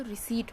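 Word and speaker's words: receipt: कि वह एक्चुअली और रिसीव नहीं होता वह रिसीप्ट होती है उसमें पीस जो होता है वह साइलेंट होता है वैसे क्या होता है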